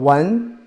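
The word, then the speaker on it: 文: The first one is called wen. When the pronunciation tone is the second tone.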